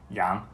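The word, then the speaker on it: 杨: That family name has the exact same pronunciation as the word for mutton, Yang.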